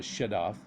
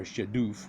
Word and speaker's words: shadoof: This is called a shadaf, and or Shadoof, whichever way you want to pronounce it.